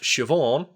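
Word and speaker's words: Siobhan: spelling right okay but it's like it's pronounced shioon because it's um based on the gaic spelling mhm and is one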